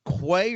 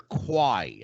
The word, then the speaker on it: Quay: Mike says to me, "Do you pronounce this Quay or Quay?" I said, "It's Quay, the Sage of Quay." Yeah.